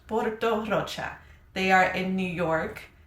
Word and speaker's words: Porto Rocha: This is Porto Rocha. I pronounced it in Spanish. Porto Rocha.